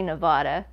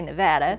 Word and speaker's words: Nevada: wanted to go to, we say Nevada. Yeah. Other people say Nevada. Some people say they say it wrong. So I don't want to offend anyone. So I guess Nevada, and it's not just